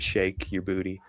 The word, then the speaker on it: Sheik Yerbouti: So he he he does pronounce it shake your booty.